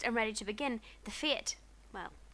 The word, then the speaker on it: fete: Now, if we're fixed and ready to begin, the fete, well, Katy pronounced it feat, can commence.